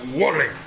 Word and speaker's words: Wallen: que con nosotros esta noche se encuentra Daniela Wallen. ¿Lo pronuncié bien? Está bien pronunciado. Sí, Wallen.